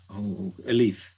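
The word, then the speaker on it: ألف: When they say Aleph, they pronounce it like A-L-E-F, as in Aleph, right? It's not Aleph, it's actually Alif with an I. Alif.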